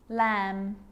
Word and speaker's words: lamb: rule to remember with the letter b it's always silent when it follows the letter m climb crumb lamb thumb dumb and plummer so practice them with me i'm not pronouncing the b i'm just pronouncing the m consonant sound climb crumb lamb thumb